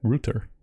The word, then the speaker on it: router: thiago is saying that the british pronunciation is rooter yes american accept router